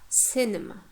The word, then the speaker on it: cinema: Cinema, cinema. You see, n. The second syllable, penultimate syllable, is weak. Therefore, the first syllable takes the stress.